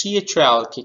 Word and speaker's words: chalk: Next, C-H-A-L-K, chalk, we are not pronouncing L.